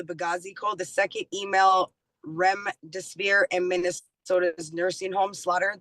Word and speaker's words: remdesivir: I don't know if I'm saying this right, remdesivir drug.